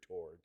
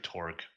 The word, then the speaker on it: Torque: with the introduction of Mr. Tor. You said too many syllables. Apologize. It has amazing banter. And Mr. It's Mr. Torque.